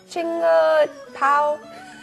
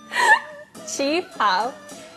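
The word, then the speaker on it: qipao: Chinga pao? Chi pao.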